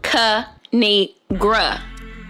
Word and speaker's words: Kinigra Deon: It's pronounced Kinigra.